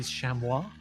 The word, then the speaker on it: chamois: Because I presume it's French, which means unless I'm very unless I'm very, very wrong with the usual pronunciation of stuff in French, it should be chamois.